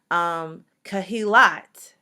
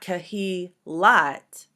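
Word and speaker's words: קְהִלַּת: Kahilat, that's the final one. Kahilat is not Kahilat, but kahilat, kahilat, kahilat. So we double that sound for the lamed.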